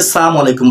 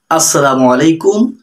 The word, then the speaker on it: আসসালামু আলাইকুম: অনেকে সালাম আলাইকুম বলেন, এটা সঠিক না। সঠিক হচ্ছে আসসালামু আলাইকুম ওয়া রাহমাতুল্লাহি ওয়া বারাকাতুহু।